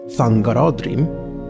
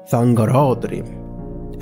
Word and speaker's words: Thangorodrim: Whereas Thangorodrim, the towers of slag raised by Morgoth above his underground fortress, is pronounced Thangorodrim, with the accent on ra, Thangorodrim.